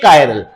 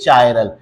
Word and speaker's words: chiral: ए कायरल। उस type के compound को हम ए कायरल या ए चायरल, कई जगह इसे कायरल बोलते हैं, कई जगह इसे चायरल बोलते हैं, तो ये आपके ऊपर है।